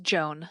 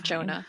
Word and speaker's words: Joan: which also I think it's just Joan okay not Jonah I cannot I can